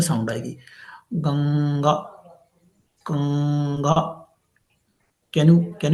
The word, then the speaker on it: गंगा: जैसे गंगा, अब आप इसको प्रोनाउंस करेंगे गंगा, तो मुंह से, आपके माउथ से कोई आवाज नहीं आएगी, बल्कि कहाँ से आएगी? नाक से आएगी, नोज से। देखिए, प्रोनाउंस कीजिए गंगा, तो आपका मुंह ब्लॉक हो जाएगा, है ना? माउथ जो है वो ऐसा ब्लॉक जैसा महसूस होगा, आपको फील होगा।